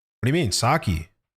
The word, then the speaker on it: sake: A like a like a Japanese word, bro. It's not It's not English. Not sucky, bro.